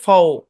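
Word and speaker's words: faux: তো আলোচনা হইছেই silent x silent x যুক্ত একটা শব্দ আছে সেটা হচ্ছে ফও এফ এ ইউ এক্স ফও এই একটা শব্দ আছে সাইলেন্ট এক্স আর নাই বুঝছেন এক্স এটা হচ্ছে সাইলেন্ট এক্স আর সাইলেন্ট জেড যুক্ত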